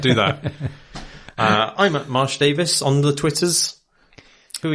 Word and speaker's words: Davies: It is generally true that the Welsh surname that looks like Davies in letters is pronounced Davis, right, in general.